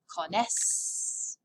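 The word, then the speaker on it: connaissent: one we know yes there's an ent but you remember how french pronunciation works don't pronounce it just say cones same thing for l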